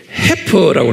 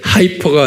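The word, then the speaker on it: heifer: 않은 겸 영어로는 이렇게 해퍼라고 그랬어요이 I f에 해퍼라고 발음을 하는데 하이퍼가 아니고요 해파라는게 뭐냐면 송아지인데 새끼를 낳기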